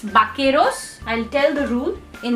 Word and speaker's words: vaqueros: say baqueros okay again this is giving the k sound because u is silent after q okay i will talk in detail about this rule but for now it's not bakueros it's bakeros i'll tell the rule